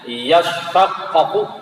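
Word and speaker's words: يشقق: Fish ini dimasukkan pada shin, asalnya yatashaqqaqu, kemudian tanya diidghamkan ke shin sehingga ya otomatis dia masuk sehingga suara shin jadinya, makanya bacanya yashaqqaqu gitu.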